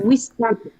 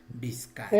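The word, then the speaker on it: wiskacha: Huizcacha. Huizcacha. ¿Por qué? Porque el sonido original es huizcacha. Huizcacha. No, huizcacha. Pero castellanizado ya es bizcacha. Es huizcacha.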